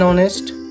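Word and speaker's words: honest: वैसे ही एन ऑनेस्ट, H silent हो जाएगा तो ऑनेस्ट, अ का साउंड आ रहा है, ठीक है।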